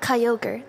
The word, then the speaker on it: Kyogre: card is worth two two hundred dollars oh Kyogre thank you very much for correcting me today